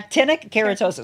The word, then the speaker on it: actinic keratosis: Actinic keratosis. I did say it right. Yeah. Actinic keratosis.